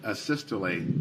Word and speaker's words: asystole: and have you explain to the jury uh a systole i think it's called um am i pronouncing that right by the way asystole yes